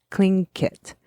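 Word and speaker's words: Tlingit: spelled TL i n g t but it's pronounced clink kit is the dialog dialect okay the glacier was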